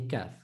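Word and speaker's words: ك: Number 1, we said with the tongue, you're going to use a portion further to the back than the Kaaf. Number 2, the Kaaf is pronounced when the tongue touches the hard palate.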